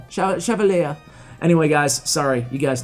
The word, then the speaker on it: Chevalier: So Chevalier, I think that's, I just call him Chevalier, Chevalier, but I was watching the correct pronunciation, and it's actually Chevalier.